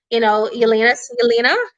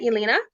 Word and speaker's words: Yelena: Yelena, that's how you say it, Yelena.